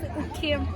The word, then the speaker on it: Ukiam: This is ukiam. Yeah, am I pronounced right?